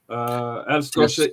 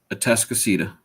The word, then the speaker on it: Atascocita: League City Clear Springs Chargers versus Humble Atascosa Eagles. Atascocita.